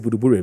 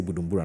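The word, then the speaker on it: Buduburam: self-contained house at Buduburim Yeah, it's Buduburim. People would like to say Budumbura. No, it's Buduburim. That's the pronunciation.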